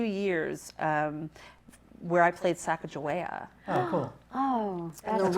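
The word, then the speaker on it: Sacagawea: it was and so Saka joa or Saka Goa actually is how you would say it we we've butchered it in the American language um Saga joa and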